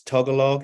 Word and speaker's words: Tagalog: It's Tagalog.